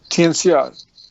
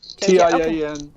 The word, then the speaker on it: Tianxia: term for that is Tianxia. Is that right? Tianxia, Tianxia. XIA.